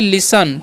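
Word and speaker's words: listen: समझिए लिखा हुआ है एल आई एस टी ई एन ठीक है तो इसे लिस्ट नहीं पढ़ना है यहां पर जो है टी जो साइलेंट होता है तो इसे हम क्या पढ़ते हैं इसे हम लोग पढ़ते हैं लिसन ठीक है तो लिसन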